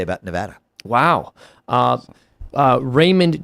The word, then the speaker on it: Nevada: you sincerely a lifelong Nevada I don't know how she's pronouncing it but it's Nevada I'm saying Nevada you like being wrong